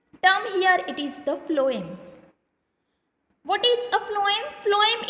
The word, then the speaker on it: phloem: Phloem, the name starts from, actually the spelling starts from P, but we pronounced it as a phloem, that means from F.